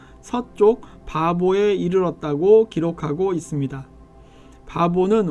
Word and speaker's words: 바보: 바보는 오늘날 파포스라고 발음하지만 성경에는 바보라고 적혀 있습니다.